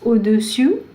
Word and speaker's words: au-dessus: Now these two words, there is slight difference in the pronunciation, and I will say it again and again so that you can practice. Au-dessus, au-dessous.